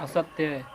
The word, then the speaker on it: अस्तेय: सत्य, सत्य, असत्य, सत्य क्या? सत्य बोलना, हाँ। और क्या बात? और असत्य, असत्य, परिग्रह, असत्य बोल रहे हैं आप लोग। अस्तेय बोलते हैं उसे। असत्य, असत्य ने अस्तेय बोलते हैं उसको।